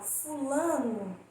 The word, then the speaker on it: fulano: Quando Quando as palavras são paroxítonas, ou seja, quando a sílaba tônica é a penúltima, nós vamos pronunciar o O como se fosse com som de U, porque aí vai dar menos ênfase, né?